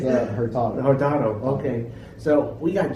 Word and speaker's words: Hurtado: Did I pronounce it correctly? It's Hurtado.